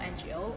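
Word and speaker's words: 我: ends with another energy so sometimes we get lazy and we're just saying uh oh oh like oh old sound in cell ngo or no or oh can you tell the difference i'm starting to sound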